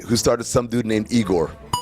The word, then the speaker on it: Egor: They lost to the Nets last night, who started some dude named Igor. Google told me it's pronounced Yegor and not Igor, even though it's spelled E-G-O-R.